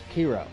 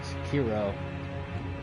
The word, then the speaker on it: Sekiro: I pronounce it Sekiro just because KI by itself, from my Dragon Ball Z knowledge, is Ki, Kai. So I just assume maybe since this is, dealing with samurais and the Asian culture, it'd be Sekiro.